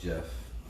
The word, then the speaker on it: Geoff: Geoff is 13-3. Pronounced Jeff.